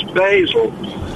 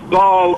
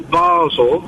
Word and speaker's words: Basel: Now, I do travel a bit around Europe, and I've never come across Basel. There is Basel or Basel. Yes. But now the BBC have invented Basel.